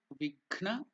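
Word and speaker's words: विघ्न: Divya Vigna Nivaranam. So, Divya Vigna, the Gha is the second one, Mahaprana, not the Ga. Ghna.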